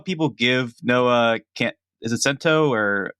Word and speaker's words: Centineo: And I do think that while people give Noah, is it Cento, or how do you pronounce Centineo. it? Centineo.